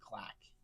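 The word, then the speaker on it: GLIAC: I believe Ferris State is in the clack. Glac is how that is spelled.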